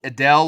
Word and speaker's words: Edel: So Edel, like the singer, is like how you'd pronounce that.